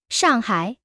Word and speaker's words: 上海: 上海, 四川. 두 단어 다 음소를 갖고 있는데 이들의 중국어 발음이 각각 다르다는 것입니다. 샹하이의 샤 발음이 그 유명한 중국어 특유의 권설음인데 혀를 말아 올리고 하는 어려운 발음이죠.